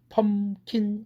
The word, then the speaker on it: pumpkin: 펌킨 이래야 되겠죠.